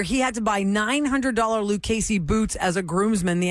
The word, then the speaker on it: Lucchese: wedding party where he had to buy $900 Lucchese boots as a groomsman. The outfit alone was $1,700. They were telling me he As a had to buy groomsman- as a Lucchese groomsman.